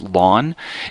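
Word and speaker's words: ln: of there this function here lon it's actually pronounced lon it's actually a logarithm base e and if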